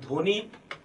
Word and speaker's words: ধ্বনি: যে নিয়মটি সেটি হচ্ছে আদ্য ব্যঞ্জন বর্ণে ব ফলা সংযুক্ত হলে সে ব ফলার কোন উচ্চারণ হয় না যেমন ধ্বনি তক স্বদেশ স্বাগত আমরা